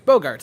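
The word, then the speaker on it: Bogaerts: Bogarts. There is one too many vowels in that. It's Bogarts, Will.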